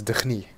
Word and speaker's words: D'ni: apparently is a full dunny and who has yet another way to pronounce dunny he says D for some reason I will continue to say dunny oh still earthquakes here